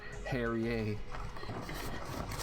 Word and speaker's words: Harrier: Every time I feel like I say his name, it's like similar to like Perrier, like the water. Harrier.